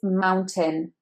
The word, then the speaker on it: mountain: That AI will make you think that you want to say it tain, but it's actually tin. Forget the A.